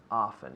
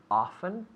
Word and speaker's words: often: often yeah often often now we have two potential pronunciations for this often and often often often often often whichever one you like we you have freedom right liberty freedom here often often no problem right okay so i